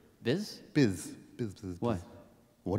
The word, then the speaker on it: Pepto-Bismol: Pepto-B. Well, you don't say B. Say the whole first syllable of the second word. Biz?